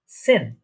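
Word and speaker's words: zehn: এই যে দেখছেন এখানে জেড, জেডটা আমরা আগেই বলেছি এটা স বা সি এর মতো উচ্চারণ হয় বা এস এর মতো উচ্চারণ হয়, এটার প্রোনাউন্সিয়েশনটা অনেকটা। ঠিক আছে, তাহলে এটা উচ্চারণ কি হচ্ছে, প্রোনাউন্সিয়েশনটা সেন।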